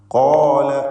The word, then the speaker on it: قال: ഖാല എന്ന് പറഞ്ഞപ്പോൾ ഖാഫിൻ്റെ അലിഫ് അവിടെയും തഫ്ഖീമുണ്ട് കേട്ടോ.